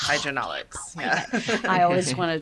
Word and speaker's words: HW&W: So it's HW&W. Am I pronouncing it correct? That's correct. HW&W.